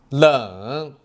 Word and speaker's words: 冷: 冷 Next, watch how I pronounce it. 冷了冷冷冷冰冷冰冷冰冷的水从雪山流下，冰冷的水从雪山流下，很冷，很冷。冬天的户外很冷。冬天的户外很冷。冷水，冷水，不要喝冷水，不要喝冷水。